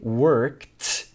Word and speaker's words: worked: He worked so hard on this project. Com a prática, você vai acostumar como que o ed é pronunciado, tá? Às vezes é com t como worked e também a gente